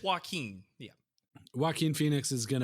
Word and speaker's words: Joaquin: it's spelled. Yeah. Yeah. I think it's Joaquin.